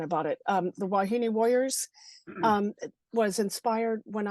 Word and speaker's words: wahine: yeah so so how so how do you pronounce it wahini wahini where and it looks like wah it